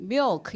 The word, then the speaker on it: milk: 근데 밀크 이름 못 알아듣고 milk 이렇게 해야 돼요. 그래서 그럼 왜 너 해봐 그랬더니 사실은 미역이랑 발음이 똑같아요.